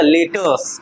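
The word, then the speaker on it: letters: नहीं है ठीक है तो ई के बाद आर आया है तो इ क्या है वोवेल है ना वोवेल लेटर है ना? तो उसके बाद आर को क्या करेंगे? साइलेंट कर देंगे। आर को क्या करेंगे? साइलेंट कर देंगे। ठीक है? तो क्या हो जाएगा? लेटर्स। क्या हो जाएगा? लेटर्स। ठीक है?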